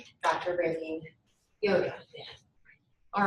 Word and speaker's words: Wouda: Raelene Wouda. Did I pronounce it correctly? No. Well, it's fine. All right. It's like Yoda, but with a W. Yoda. All right. Dr. Raelene Yoda.